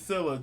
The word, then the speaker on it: Silla: they pronounced their name Silla s s Sil it's Sila okay Sila it's just that s is silent s like Priscilla so Sila who got